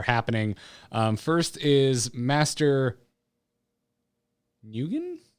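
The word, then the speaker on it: Nguyen: by a couple people i think it's uh yen new yen according to hachikumo in the chat room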